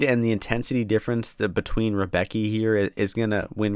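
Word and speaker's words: Rębecki: I call him Rebecki, but I think they pronounce it like Raumbecki. Don't know how the Polish pronunciation works too well.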